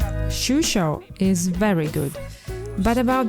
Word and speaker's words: Xuixos: national pastry this one it's difficult to pronounce it's like sushi and let's taste whether the coffee is as good as they say shusho is very good but